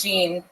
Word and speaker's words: Jean: first name wrong or they get Gan on the first they say it wrong all the time it's yeah all right and what do you normally say when they say it wrong I say it's Jean and then you yeah